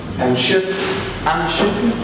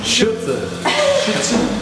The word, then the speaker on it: Schürze: How do you say apron in German? Schütze. Schürze. Schürze. Schürze.